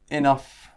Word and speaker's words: enough: Okay, so now let's look at the uff pronunciation. So uff, just like stuff, uff, and it's in words like enough, rough, tough, and slough.